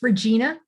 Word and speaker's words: Regina: Did I pronounce it wrong? Sorry. It's okay. It's Regina.